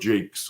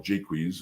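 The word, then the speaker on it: Jaques: even the character of jake's or jaquise whichever way you prefer to pronounce it and himself uh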